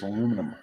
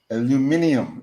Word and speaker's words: aluminium: not plastic it was aluminum aluminium is that why do you say aluminum uh kiwi aluminium I knew it I knew it we put a whole extra syllable in there you do we do